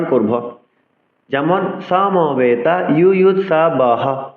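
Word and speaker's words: যুযুৎসবঃ: যেমন সমবেতা ইউয়ুৎসবঃ, হ সহ করলে কিন্তু নয় অক্ষর হচ্ছে। আমরা পূর্বেই শিখেছি বিসর্গের জন্য হ আসছে, সংস্কৃত শ্লোক উচ্চারণে বিসর্গ, রেফ, লুপ্তকার অক্ষর হিসেবে গণনা হবে না, উচ্চারণ করব।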